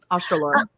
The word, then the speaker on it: Australorp: But I have one of my favorite chickens to raise are the black, I think you pronounce it Australopes. Mm-hmm. Australorp.